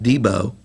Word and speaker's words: DB Movers: the valley we have DB movers last year's Champions pronounced Debo and uh the Broadhead